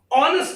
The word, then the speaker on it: honest: The word is ऑनेस्ट मैन. आ होता है आ. ये आ होने के नाते आ का उच्चारण देता है.